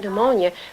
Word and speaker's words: pneumonia: to find the word pneumonia unless some teachers told him that the p is silent and you take those